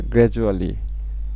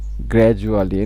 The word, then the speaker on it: gradually: গ্র্যাজুয়ালি। গ্র্যাজুয়ালি মানে GRA, গ্র্যা, এটা একটা সিলেবল। জু, DU, জু, ডি এর উচ্চারণ ডি এর মতো হয় না, জেড এর মতো হয়। গ্র্যাজু। তারপর হচ্ছে আলি, ALLY, 3টা সিলেবল।